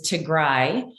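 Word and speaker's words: Tigray: berhana musco um and i just want to correct the pronunciation is to gray i am from tigrai my most of my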